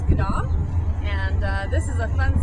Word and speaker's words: Schiedam: We would say Schiedam, how it's spelled, but it's Schiedam.